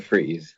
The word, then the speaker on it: Fries: Hector fries he's Mr Freeze yeah why did you just call him something why fries though I don't think you pronounce it fries though I think you pronounce it freeze because he's because of